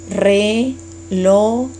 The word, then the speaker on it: relojes: And when you pronounce it, make sure that you still pronounce every syllable there. So, relojes.